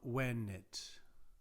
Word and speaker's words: venit: Primarily, one thing to keep in mind, a Latin V is pronounced as a W sound. Pictor ad villam venit.